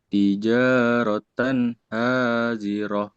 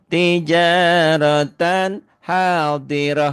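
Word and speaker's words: تجارة حاضرة: Tijaratan hazirah. Iya pintar. Tija tijaratan hadirah. Karena tak marbutah ya bunyinya jadi ha dan apapun tandanya semua jadi sukun.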